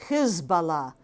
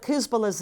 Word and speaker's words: Hezbollah: in arabic and it's it's why i pronounce it this way hizballah because his the first part of that means party allah god the party of god that is what hezbollah's name really means and if you say it any other way you know we often see it rendered as hezbollah or or some other version that way you lose that that meaning i think so i'm